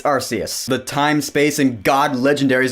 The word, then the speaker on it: Arceus: Arceus in the middle no it's not pronounced Arceus its Arceus the time-space and God